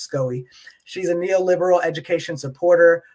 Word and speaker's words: SCOE: county office of education often pronounced scoe she's a neo-liberal education